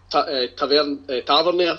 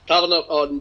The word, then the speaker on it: Tavernier: Maybe think about playing three at the back and trying to push Tavernier. Sorry, well done. Let me pronounce that correctly. Tavernier and Jack up, as